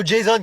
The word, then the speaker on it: Jason: Ouais, ça se prononce plutôt Jason, comme à l'américaine.